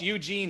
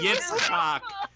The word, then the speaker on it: Yitzhak: It's Eugene Levy. It's not Eugene. It starts with a Y. Yitzhak. It's the Yitzhak? ch sound.